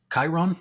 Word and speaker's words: Chiron: I guess it's Chiron. It's pronounced Chiron? Yep. Chiron.